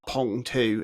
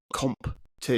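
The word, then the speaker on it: Qomp2: It's not Pong 2. It's Comp 2.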